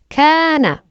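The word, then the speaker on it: كان: Kana, kana means he was. Notice how the alif stretches the ka to ka.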